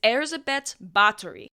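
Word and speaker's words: Báthory Erzsébet: know her best but her proper name is Erza bet battery I'll be doing my best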